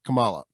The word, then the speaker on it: Kamala: Kamala, but she pronounces herself Kamala. Kamala? She pronounces it Kamala.